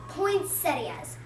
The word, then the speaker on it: poinsettias: Well, I've always heard it pronounced poinsettias. I think that's the correct pronunciation.